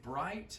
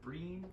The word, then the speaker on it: bright: Yeah, you were trying to say bright. I heard breen. That's natural. I understand the letter I. You immediately associate with a long E sound. That's an I sound.